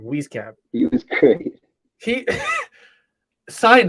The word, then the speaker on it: Wieskamp: Wieskamp.